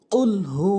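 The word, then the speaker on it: قُلْ: করি বিসমিল্লাহির রাহমানির রাহিম কুলহু আল্লাহু আহাদ কুলহু আল্লাহু আহাদ আমরা অধিকাংশ লোক যেই জায়গায় ভুল করি সেটি হচ্ছে এটি হচ্ছে কফ কুল গলার মাঝখান থেকে উচ্চারণ হবে আর আমরা যে যেখানে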